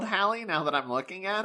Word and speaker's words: Halley: So it's just one and it's Halley. It is Halley. So we're just stupid. Wait, hang on. When your name is Halley and it gets mispronounced as Haley for 50 years.